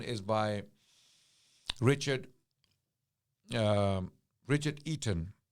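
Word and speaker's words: Eaton: Richard um Richard eon eon is spelled with e a t o n oh we know this Toronto Eon Center okay Canadians are familiar with Ean okay so this scholar is called Richard Ean he's an American histori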